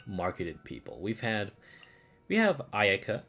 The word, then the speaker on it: Ayaka: Okay, so that's Ayaka, right? They say it wrong. It's not Ayaka, it's fucking Ayaka.